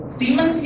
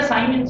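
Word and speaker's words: siemens: पर ये जरा मो बोलने में थोड़ा खराब लगा होगा, ऐसे कुछ हुआ होगा, तो जो भी मॉडर्न कन्वेंशन है उसमें इसको सीमेंस या साइमेंस बोलते हैं, SIMENS, साइमेंस इज the unit of conductance, साइमेंस।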